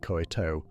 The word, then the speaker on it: Koh Tao: The Gulf Coast islands like Koh Samui, said Koh Samui, and Koh Tao, said Koh Tao, rhyming with cow, feel different again from the Andaman Coast islands like Koh Lanta and Krabi.